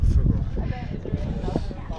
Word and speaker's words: Făgăraș: mountains of the Carpaths, which is called the Făgăraș, in Romanian, Făgăraș. F-A-G-A-R-A-S, Făgăraș, pronounced.